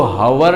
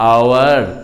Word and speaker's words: hour: जैसे HOUR हम लोग इसको हावर नहीं पढ़ते हैं, आवर, और H साइलेंट होने के चलते वो वोवेल साउंड ले लिया, इसलिए आर्टिकल एन लग जाएगा, एन आवर।